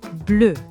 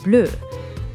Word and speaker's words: bleue: Une chemise bleue. Now these two actually sound the same, bleu and bleue.